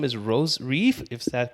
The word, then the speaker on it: Rose Reif: guest coming from north carolina her name is rose reef is that correct and pronounce it yes that's it rosary rose viva